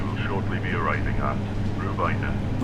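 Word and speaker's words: Rhiwbina: Rubina. So it's R H I W B I N A pronounced R. We will shortly be arriving at Rubina.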